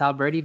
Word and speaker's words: Alberti: Did I say Vangelis bass? It's Alberti bass.